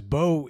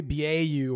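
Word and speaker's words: Beaux: most of the videos my name is Bo it's not spelled Bo it's spelled b auau because of the Cajun influence of my name and I remember growing up most kids couldn't spell my name like everybody would always call me beu or Boo or they'd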